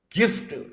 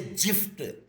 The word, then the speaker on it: gift: Then in the form of a gift. Don't say gift. Don't say gift. Say gift. That is the right pronunciation.